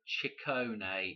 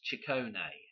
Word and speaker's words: Ciccone: okay Madonna chicone okay chicone is how that is pronounced I believe 114 okay now what